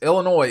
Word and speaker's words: Illinois: I've watched Illinois a few times. The S is silent at the end.